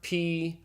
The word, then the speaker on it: pi: math you called it pi and that's fine if you're learning math but this is Greek and this letter is properly pronounced P just like the English P okay so P is